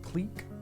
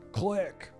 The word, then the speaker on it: clique: oh I do print Magic Place pronounced Clique like that Clique instead of what how would